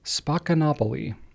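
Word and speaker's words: Spaccanapoli: So if you're reading it online and you have no idea how to pronounce it, it is pronounced Spacanopoly.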